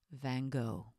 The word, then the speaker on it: Van Gogh: love Van Gogh and yes that's how we say his name in American English Van Gogh finally prepositions these are